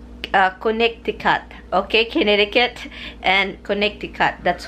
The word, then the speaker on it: Connecticut: that connected cut because I couldn't because I pronounce it like an American here like Americans like Connecticut the first thing is the coming I heard